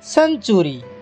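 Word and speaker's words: century: সহিত ই আই ওয়াই ব্যবহার হইছিলে সি এর উচ্চারণ স্যামিতি দেখিবা সি এন টি ইউ আর ওয়াই সেঞ্চুরি দেখো এটারে সির পাখরে ইজি তারপর আগে দেখিবা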